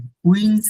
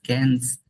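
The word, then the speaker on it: quinze: আর কুইন্স না, ইটস ক্যান্স। This one ইজ ক্যান্স, ক্যান্স। 15 যেটা ক্যান্স, sound হচ্ছে ক্যান্স। ওকে, এটা আগেটা তো আপনি এটা করছেন, এই যে এখানে কুইন্স বলে ফেলছিলেন, এটা একটু মনে রাখেন, এটা ক্যান্স, ক্যাথভা ক্যান্স।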